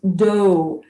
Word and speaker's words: dough: Então, gente, é para observar que essa combinação de letras O, U, G, H tem essas quatro pronúncias diferentes. Tough, bow, cough, and dough.